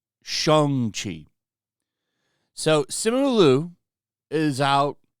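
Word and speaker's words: Shang-Chi: you watch Marvel movies he played shung Chi who used to be called Shang Chi but for some reason when the movie came out his name is now pronounced Shang Chi so simulu is out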